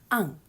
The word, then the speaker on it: un: indefinite articles a n we pronounce this an and remember we have